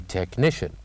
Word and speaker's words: technician: after me technician technician so what is the letter that we kept it silent in this word the letter is of course letter H and then we'll move